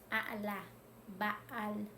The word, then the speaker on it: a’alaj ba’al: Y se dice de la siguiente manera: a'la, ba'al, a'la, ba'al, a'la, ba'al, o a'la, ba'a, a'la, ba'a.